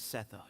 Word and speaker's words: Sethos: forgot to introduce myself and how do you pronounce it my name is sethos sethos I'll be here if you need me